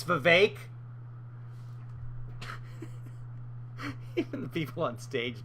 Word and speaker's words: Vivek: Honestly, he would score a bunch of points if he just said, folks, it's Vivek. It rhymes with cake.